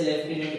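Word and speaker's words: lieutenant: एक ही बात है स्पेलिंग में कंफ्यूज मत होना ये स्पेलिंग लिटनेट करके लिखी जाती है लेकिन इसे लेफ्टिनेंट बल जब मैं यूनिवर्सिटी में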